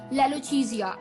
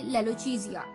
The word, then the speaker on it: lalochezia: लेलोचीजिया, LALOCHEZIA, लेलोचीजिया, LALOCHEZIA, लेलोचीजिया।